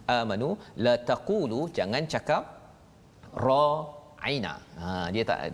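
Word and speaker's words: راعنا: Dia tak ra'ina, ain tu berapa harakat Ustaz? Ain tu tidak ada harakat. Ra tu 2 harakat. Ra 2 harakat, ain 1 harakat. Na 2 harakat. 2 harakat, ya. Jadi kalau bacanya panjang, ra aina 2 harakat, dia jadi maksud lain.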